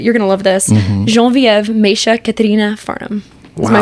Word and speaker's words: Geneviève: So Genevieve is the actual pronunciation of my name. And that's always been very important to me. And Say of course, that again slow. Genevieve.